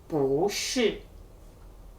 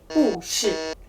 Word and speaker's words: 不是: Bu shi. Look, if we say bu shi with the fourth tone, it sounds really abrupt. Bu shi. Bu shi sounds much better.